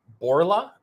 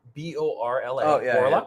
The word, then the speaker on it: Borla: all right so I'm going to try to pronounce the name it's borla b-o-r-l-a yes yes borla which makes loud performance exhaust